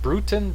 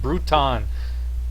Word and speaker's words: Bruton: is Billy Bruton and I think that's the way they pronounce it bruttin Bruton I've heard both batting second and playing